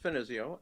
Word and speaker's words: Finizio: do sure uh well my name is finezio and uh you're doing excellent with pronunciation because a lot of people have trouble with it um as you pointed out